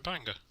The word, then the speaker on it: Bangor: And there's a Bangor there as well. Or Bangor, as it's correctly pronounced.